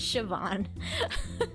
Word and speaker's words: Siobhan: I would have never in a million years guessed that Seoban was pronounced as Siobhan until I like heard it first then saw how it was spelled and then was explained that that is how you say that cuz I'm like yeah